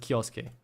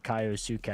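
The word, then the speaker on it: Kyousuke: Like the Japanese pronunciation, I can assure you, is Kioske, but that that sounds like really forced kind of. Yeah, I feel you. Me anglicizing everything wants to say Kaiosuk.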